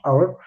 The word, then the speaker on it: hour: Hour. ¿Por qué? Porque esta H, si se fijan, o sea, la pronunciación no se pronuncia, es una H muda.